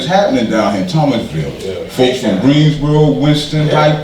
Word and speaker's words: Thomasville: here, I call it Thomasville. You gotta drop the S off, the S is silent. But when you really from the Ville, you say Thomasville, you drop that S, the S is silent.